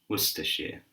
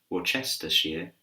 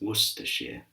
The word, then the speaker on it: Worcestershire: So repeat after me, Worcestershire, Worcestershire. It's not Worcestershire, but it's Worcestershire, Worcestershire.